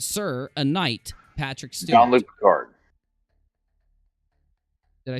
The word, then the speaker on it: Jean-Luc Picard: Jean-Luc Picard.